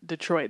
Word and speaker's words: Detroit: People from Detroit, they're like, it's Detroit. I'm like, Detroit. Accent on the Troit, right?